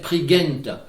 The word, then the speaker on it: Prigent: Et un petit mot sur Dénes Prigent, qui est maintenant très connu, dont, comme il le dit, la bonne prononciation devrait être Prigent.